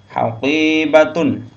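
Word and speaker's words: حَقِيبَةٌ: Haqibatun, qaf ya, haqibatun, haqibatun ya, tas.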